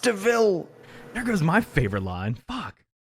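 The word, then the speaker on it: De Vil: it's spelled devil but it's pronounced deville there goes my favorite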